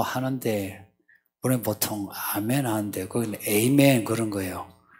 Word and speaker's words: 아멘: 에이멘보다 아멘이 히브리어예요. 히브리어가 그냥 아멘이에요. 그러니까 괜히 그 에이멘, 외국에 나가서는 뭐 다 에이멘 하면 하는데요. 아멘 하는 게 좋아요.